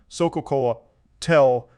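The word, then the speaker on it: xocolatl: word chocolate is derived from the nahuatal word exocalital pronounced pronounced nahuatel pronunciation Soca Cola tell which is made up from the words exoc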